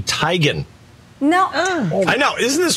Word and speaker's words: Teigen: you think this is isn't it chrissy teigen no it isn't what what is it it isn't christie it's christy tygan no i know isn't